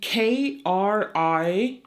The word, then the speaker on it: Christkindl: The CH in this context is not the typical that you would say. It's like a K. So it's basically Krist.